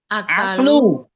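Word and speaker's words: عقل: Wahwa uklu. Ukulu, Ustaz. Bukan. Kenapa dibaca uklu? Wahwa akulu wa nakilu. Bukan, belum tepat bacanya Muhammad. Yang ada dalam tubuh kita. Akal. Wahwa aklu. Wahwa aklu wa naklu.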